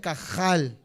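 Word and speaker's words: קהל: h se pronuncia como como si estuvieras haciendo gárgaras se pronuncia cajal de esta manera entonces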